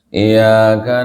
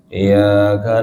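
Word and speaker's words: إِيَّاكَ: Misalnya, Iyyaka na'budu wa iyyaka nasta'in. Nah, itu tidak ditasdid kan? Orang kalau kadang bacanya kalau malas kan gitu, nggak ditasdid. Iyyaka na'budu wa iyyaka. Ini salah, merubah arti, fatal.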